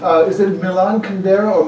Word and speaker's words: Milan Kundera: Is it Milan Kundera or Milan Kundera? How do you say it, sir? Milan Kundera.